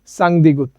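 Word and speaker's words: 쌍디귿: থাকার কারণে আমরা বলব সাং দ্বিগুত ওকে তো এই দ্বিগুতেরও সেম উচ্চারণ হবে শেষের বর্ণ ত এই দ্বিগুত যেখানেই থাকুক আপনি উচ্চারণ করবেন ত ওকে তারপরে আমরা দেখতে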